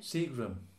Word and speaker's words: Seagram: Because the last syllable changes to? Exactly. A schwa. When it's a noun of two or more syllables. Okay. So that you know it's Seagram's gin.